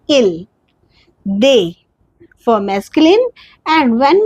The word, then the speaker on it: ils: We don't pronounce s here, we say il.